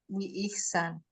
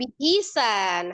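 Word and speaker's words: بإحسان: Biihsan itu kan hurufnya ba kasrah, alif atau hamzah kasrah, ha sukun ya kan bacanya biih biihsan. Iya. Bukan bihisan. H-nya bukan kasrah. H-nya sukun.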